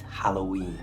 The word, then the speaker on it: Halloween: pronounce this correctly and the best way is to change that o in the middle to the little schah sound that's the magical little